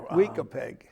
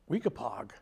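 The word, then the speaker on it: Weekapaug: Weekapeg, Well, no. Weekapog Weekapog. in Westerly.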